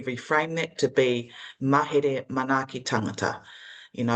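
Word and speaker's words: manaaki: real so beautifully that you have before manaki um you know within the kuana so it's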